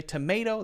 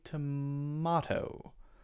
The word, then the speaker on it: tomato: totally biased 100 tomato Americans will say tomato there's an a sound there and British the British accent might be more likely to be tomato more of an ah sound there a diff slightly different